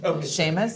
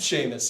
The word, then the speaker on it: Seamus: Uh, just to clarify, pronouncing your first name, Sheamus. Sheamus.